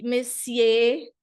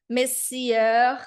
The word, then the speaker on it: messieurs: Não é Messier, eu escuto muito Messier, é horrível, não é isso. Messieurs, nada disso, tá? Mesdames et messieurs, monsieur.